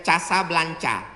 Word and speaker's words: Casablanca: Ibu kotanya tulisannya Casablanca. Cara bacanya Casablanca.